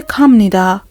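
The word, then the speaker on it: 갑니다: وقتی میخوای جمعش کنی با ب نیدا درستش خونده میشه کام نیدا کام نیدا یعنی ب اینجا خونده نمیشه م خونده میشه اینم جزو نکات تلفظی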